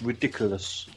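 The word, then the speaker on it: Riddikulus: ridiculous right it's laughable um and it's it's pronounced ridiculous yeah it's the latin ridiculous isn't it that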